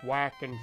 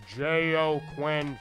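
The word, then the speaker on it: Joaquin: joker I'm just kidding it's not pronounced whack and Phoenix it's Jo quen Phoenix oh happy Moon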